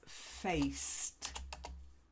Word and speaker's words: faced: Just the one word with the pronunciation, I would say, which is faced. To face somebody. Faced. That's it. You just got to get that long A.